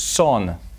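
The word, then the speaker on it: Seon: remained and the same Chinese character is pronounced as son in Korea and Zen in Japan however the meaning never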